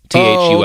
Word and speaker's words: Thule: It's spelled Thule Society, like the top racks that people have on their four-wheel drive cars. Thule.